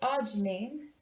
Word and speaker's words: arginine: like to think that arginine is pronounced arginine, and I like to say arginine is next in line.